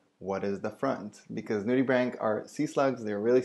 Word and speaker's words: nudibranch: And yes, it is pronounced Nudibranch and not Nudibranch, just so you know.